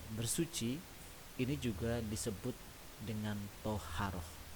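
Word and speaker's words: طهارة: Kemudian anakku semua, bahwa bersuci ini juga disebut dengan toharoh. Tulisannya taharoh, tapi kita bacanya toharoh.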